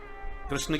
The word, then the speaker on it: कृष्ण: बहुत से लोग तो शुद्ध से बोल ही नहीं पाते, कृष्ण की जगह किशन बोलते हैं, किशन, किशुन।